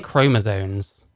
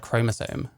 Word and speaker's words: chromosome: the ones born with she's saying chromosones like why does no one know how to say the word chromosome penises and the ones